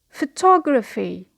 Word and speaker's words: photography: The next word is a word of 4 syllables and we pronounce it photography. Photography. It is the occupation of taking photographs. Photography. So the stress here is on the second syllable.